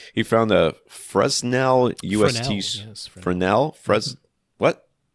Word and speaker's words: Fresnel: Fel with an S in the middle of the word, but nobody says it.